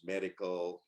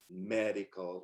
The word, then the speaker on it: medical: we have the examples medical you know three syllables medical not MediCal you know Electronics four